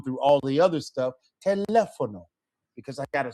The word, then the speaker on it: teléfono: If a word ends in O, I need to stress the next to last syllable. Okay. And so we have telefono. Okay. So next to last, teléfono, right? Well, we have a written accent.